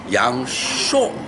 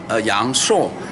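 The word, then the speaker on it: 阳朔: I love you from Yang Shuo. But 本地人是杨所，是杨后鼻音杨硕。So this, when you come to Yang Shuo, you will hear two different distinguished ways. And then one is Yang Shuo.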